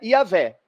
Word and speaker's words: Javé: E onde a gente lê Senhor, é um nome em hebraico que ninguém mais sabe como pronuncia, e por convenção se pronuncia Yahvé.